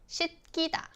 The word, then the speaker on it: 씻기다: When 시옷 is used as a final consonant, 받침, you pronounce it as 디귿, right? And then the next one, if 기역 follows after 시옷 받침 or 디귿 받침, final consonant 디귿, it should be pronounced as like tense consonants. So you should say 씻기다 instead of 씻기다.